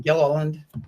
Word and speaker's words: Gilliland: Did I pronounce that correctly, or is it? Yeah, did I need a? Yeah, Gilliland.